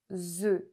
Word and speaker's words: œufs: Attention, parce qu'au singulier, on dit un œuf, mais au pluriel, on dit des œufs. Un œuf, des œufs.